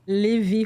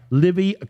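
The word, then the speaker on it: Livi: And how do you pronounce that? Livy Home Care. Livy Home Care.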